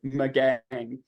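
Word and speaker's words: Magangué: this little town, and it's pronounced Magag or Magang. And it really doesn't look like that's the way you'd pronounce this at all. But I've checked with 3 people and they told me yes. Now somebody else might come along and go, no, and I'm willing to be corrected. But with what I have learned, this is pronounced Magang.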